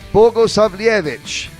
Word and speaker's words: Bogosavljevic: What went wrong for Bogosavljevic? Bogosavljevic.